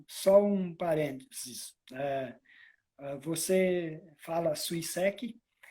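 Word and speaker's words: 水石: Então, os espanhóis dizem Suiseki, os italianos dizem Suiseki, o português, mais adequadamente, Suiseki, e não Suiseki. Suiseki, Suiseki. Suiseki. E nem Suiseki. Muito obrigado. porque pelo fato de estar entre duas vogais, tem gente que acha que pronuncia como português o Z, não é.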